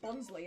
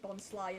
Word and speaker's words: Bonsly: I keep calling it Bonsley, and I'm like, no, it's meant to be Bonsly, isn't it? Because it's a sly tree. And it's meant to rhyme with bonsai.